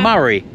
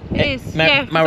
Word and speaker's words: Moray: And apparently it's pronounced yeah. Murray. Murray. I used to call the Moray Council, but it's Murray.